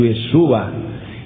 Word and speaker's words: Yeshua: aí ao lado do nome de Josué que se pronuncia em hebraico Yeshua escreva o significado do